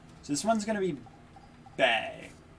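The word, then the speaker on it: Bea: be bag b yeah her name's just b i keep thinking it's bae because of the way it's spelled i think it would i would have thought it was like baya or something but no not not at all okay so fighting is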